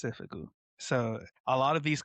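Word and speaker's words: 征服: So school uniform and conquest are pronounced the same, which seifuku, which is these ones right here. So this one right here is the school uniform, seifuku, and this one is the conquest, seifuku.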